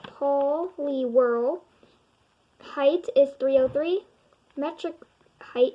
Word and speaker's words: Poliwhirl: out of sticky situations how to say it Paul Lee whirl height is 303 metric